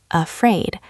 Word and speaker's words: afraid: The stress is on the second syllable. Afraid.